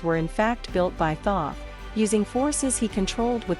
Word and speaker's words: Thoth: many of us followed thoth pronounced toth to the land of